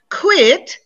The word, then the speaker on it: quit: students always mix up quit quite quiet look quit one syllable like i quit my job white like he's quite